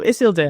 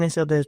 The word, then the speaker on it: Isildur: That's Elvish is based off Welsh, apparently. Not How else would you pronounce D-U-R other than deer? Door. Name an English word where it sounds like that.